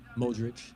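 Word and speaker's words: Modrić: I'm watching the Croatia game right now and like Luca Modric, I don't know how to pronounce his name. Is that how you pronounce it? Modric.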